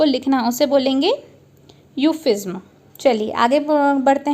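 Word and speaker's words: euphuism: सो इसका प्रोनाउंसिएशन होगा यूफिज्म। जैसे यू और फ्यू और ज्म, यूफिज्म।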